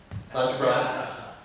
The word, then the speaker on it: Satyagraha: Pronounce it? Satyagraha.